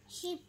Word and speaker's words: ship: একটা সিপ আছে, SHIP, সিপ মানে জাহাজ। তুমি পাচ্ছ না, আমি বানানটা বলছি।